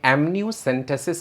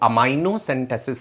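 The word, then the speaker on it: amniocentesis: लोगों के वीडियोस देखूं जिन्हें एमनियोसेंटेसिस का सही उच्चारण नहीं पता और वो अमाइनोसेंटेसिस कह रहे हैं, जिन्हें ये नहीं पता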